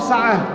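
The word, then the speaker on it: ساعة: Menjadi sa'ah. Bacanya secara diwakaf sa'ah.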